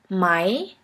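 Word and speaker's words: Mai: Here we have the example of the word my, which means the month May.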